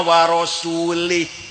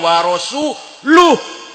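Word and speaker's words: وَرَسُولُهُ: Ada orang baca Quran, innallaha bari'um minal musyrikina wa rasulih. Allah tidak melindungi orang musyrik dan tidak melindungi rasulnya. Salah. Bacanya innallaha bari'um minal musyrikina wa rasuluh.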